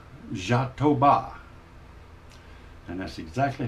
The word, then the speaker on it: jatoba: wood I'm going to be using is is pronounced jatoba and that's exactly how they pronounce it is spelled j-a-t-o-b-a but the pronunciation is z h a a